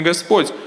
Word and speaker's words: Господь: Здесь Господь Индру называет Кришну Бхагаваном, подчеркивая, что Кришна — это сам Верховный Господь, а не просто обычный ребенок.